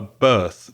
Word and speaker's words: berth: And it's sometimes called a berth, B-E-R-T-H, the same pronunciation as B-I-R-T-H, your date of birth, exactly the same pronunciation.